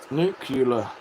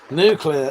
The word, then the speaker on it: nuclear: Nucula nucular. There's only two things come from Texas. Ste and quiz and I don't see what is that from? I recognize that. Nuclear. That's how it's pronounced.